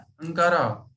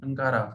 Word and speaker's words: Ankara: हाँ, टर्की की कैपिटल है अंकारा। आप शायद किसी और नाम से प्रोनाउंस करते हैं, अंकारा है ना।